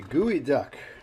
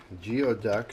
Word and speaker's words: geoduck: as you can see the guey duck geod duck as it's spelled and uh supposedly a great delicacy as Sashimi we're going to do tonight we're going to do uh Sashimi gooey duck we're going to do